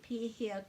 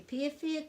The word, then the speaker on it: pēhea: So in some places the way of saying kei te pēhea koe is kei te pēwhia koe, and there's also other ways of saying that as well.